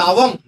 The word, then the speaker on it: ஓவம்: தான் நாலடைவுல ஓமா மாறிருச்சு அது ஆக்சுவலா ஓவம்னு படிக்கக்கூடாது ஓவல்னு படிக்க கூடாது அது அவதான் அது அவம் அது அவதான் படிக்கணும் அதாவது ஆரஞ் எப்படி அகரத்தினுடைய உச்சரிப்புல படிக்கிறோம் அதேபோல் இந்த ஓவம்ங்கிறந்த ஓவல்ங்கிற வார்த்தையை அகரத்தினுடைய உச்சரிப்புல தான் படிக்கணும்.